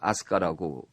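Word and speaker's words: 飛鳥: 그 거기도 아스카라 그랬는데 여기는 날빛 자에 세조 자를 써서 그 비조 아고 쓰고 그 아스카라 발음을 해요 지금도 그렇게 씁니까 우리가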